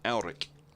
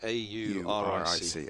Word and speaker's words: Auric: Auric. Auric. Auric. A-U-R-I-C. Okay. I think I've got the pronunciation right.